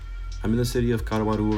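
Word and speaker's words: Caruaru: I'm in the city of Kawaru right now. It's spelled C A R U A R U.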